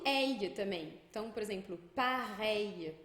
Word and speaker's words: pareil: A gente vai ter esse L, que é um I curtinho, que já vai emendado num outro I que tinha antes. Então a gente pega aquele I e emenda um I curtinho. Então fica um I um pouco mais longo. Pareil.